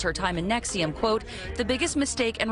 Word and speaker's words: NXIVM: It all started with this sketchy self-help group called NXIVM, pronounced like some bad pharmaceutical drug.